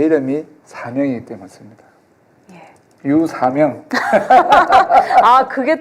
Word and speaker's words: 류삼영: 제가 울산에 있을 땐 제 이름 유삼영인 줄 알았는데 KBS 아나운서 MBA 전부 다 유사명으로 발음하더라고요. 네, 사명이 맞죠. 국어 선생님께서 사명이 맞다. 사명 아니고요.